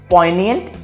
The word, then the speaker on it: poignant: अब इसे हम प्रोनाउंस करते हैं पॉइनिएंट, G साइलेंट, और इसका मतलब होता है कोई ऐसी चीज जो कीन सेंस ऑफ सैडनेस इवोक करे।